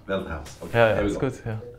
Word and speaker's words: Veldhuis: Veldhuis. Veldhuis.